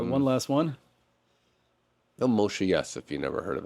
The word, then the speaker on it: Yess: His stuff only got recently put back on the internet, so if you haven't checked out, YESS, second S is silent.